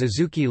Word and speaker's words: azuki: It is common to write xiaodou in kanji but pronounce it as adzuki.